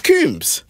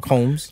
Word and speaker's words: Combs: it's Coombs. Coombs. Nah, it's not Coombs. It's Coombs, not Combs. It says Combs, C-O-M-B-S, isn't it? But it's pronounced Coombs.